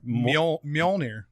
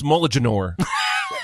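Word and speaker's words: Mjölnir: How to pronounce his hammer? Mjolnir. Mjolnir. Is how it Yeah. is. Huh? No, it's Moliganor.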